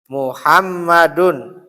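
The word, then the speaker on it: مُحَمَّدٌ: seperti ya contoh kalau antum baca seperti ini misalkan Muhammadun Muham muham ma dun ya ini itu bacanya sama seperti ini. Muhammadun itu bacanya sama seperti kayak gini sama enggak bacanya? Muhammadun. Muhammadun sama ya.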